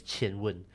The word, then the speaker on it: Qwen: If you know Chinese, it's actually pronounced as Qian Wen.